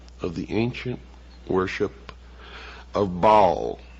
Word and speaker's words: Baal: the ancient worship of Baal our bail is some pronounce it bow was the son el